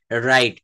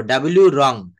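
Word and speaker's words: wrong: ডবলিউ রং। ডবলিউ রং। এটা বলবো না। আমরা আর থেকে শুরু করব।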